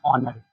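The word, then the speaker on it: honour: जैसे अब हम बात करते हैं यहां पर हमने यहां पर लिखा था ऑनर।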